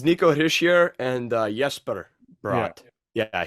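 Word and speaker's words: Hischier: say it he sure yeah it's it's Nico hishear and uh yes but yeah he is from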